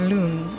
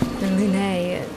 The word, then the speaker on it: Lune: Yeah, I feel like even if you were to just fucking say her name is Loon, then you would be closer to the pronunciation in French. Lune. Lune sounds like some fancy like hair product line.